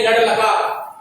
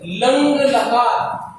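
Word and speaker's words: लङ् लकार: देखो बेटा कई बार बच्चे इसको गलत उच्चारण करते हैं, इसको बोल देते हैं लड़ लगा, तो ध्यान रखना है आपको, शुद्ध उच्चारण करना है, इसको बोलेंगे लंग लकार।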